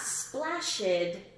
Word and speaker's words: splashed: Not splashed. Splashed, splashed. This one was tricky. What do you think? Splashed. I think it's a T. The more I say it, the more I'm thinking T.